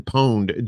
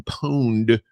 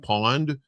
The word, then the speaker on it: pwned: And it is have I been pwned? Because I had to look that up. I didn't know how you say it. I thought it was like pawned, like a pawn shop.